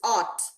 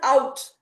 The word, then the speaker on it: ought: This is ought. Yes, ought. So how it is being pronounced? Ah. Ought. Ah. Ought. Ought. It's not out. We don't say out.